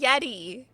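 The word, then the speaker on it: Yetee: And remember, I know we all know this, but I know there's some people who don't know, but Yeti is spelled Y-E-T-E-E, like t-shirt.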